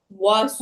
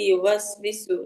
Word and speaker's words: يوسوس: যেমন কি কি ভুল করে, অনেকে হচ্ছে ওয়াওটাকে ডাবায় ডাবায় পড়ে, হ্যাঁ। ওয়াসো হ্যাঁ আপু, বিসু এরকম ভাবে পড়ে, হ্যাঁ। এরকম ডাবায় পড়া যাবে না, স্বাভাবিক আমরা পড়বো। হ্যাঁ, يوسوس। আল্লাযী ইউওয়াসবিসু, তারপর হচ্ছে আচ্ছা মিন আচ্ছা।